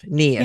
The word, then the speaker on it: Niamh: that a lot yeah think of your knee and say if KN if yeah KN if yeah